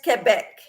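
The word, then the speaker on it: Québec: Robert says okay Sandra and it says it's pronounced Quebec yes in French it is Quebec I think I'd be shot for calling it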